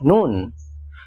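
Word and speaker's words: نون: agak lebih ke bawah namanya Nun Nun ini punya bunyi kayak huruf n dalam bahasa Indonesia na ni NU 26 ada huruf kayak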